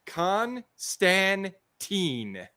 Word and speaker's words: Constantine: John Constantine tine Constantine they're showing you in the comic he's correcting the pronunciation for you yes and since he's